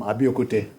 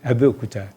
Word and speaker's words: Abeokuta: You are from Abiokute. That's not the correct pronunciation. Okay. Abeokuta.